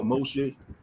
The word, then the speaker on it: Moshe: __ ] ben yahoo in hebrew that's how you say it in the hebrew tongue moses you know moshe okay i just don't